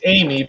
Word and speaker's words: Aimee: It's Amy, but it's the French version.